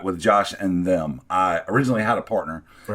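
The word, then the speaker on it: Josh & Them: No, yeah, Josh and them. Josh and them. Now, technically, for the scholars and whatnot, it's ampersand and then the word them, but we always pronounce it, like daddy and them.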